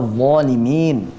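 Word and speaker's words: ظَالِمِين: Nah, bacaan yang benar pada pengucapan huruf dha, baik, itu adalah tanpa memonyongkan kedua bibir. Contohnya seperti ini. Zalimin. Coba. Zalimin. Baik, tanpa memonyongkan kedua bibir. Zalimin. Zalimin. Nah, itu adalah bacaan yang benar insyaallah.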